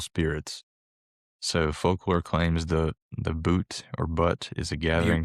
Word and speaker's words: Butte: It's just a butte, so it's not a volcano or anything like that. But Butte. That's how you say it. Butte.